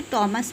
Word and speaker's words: Thomas: वैसे तो हम इसको थॉमस ग्रे बोलते हैं, बट new pattern in English में आप इसे टॉमस भी बोल सकते हैं, क्योंकि अब एच को साइलेंट मान लिया गया है।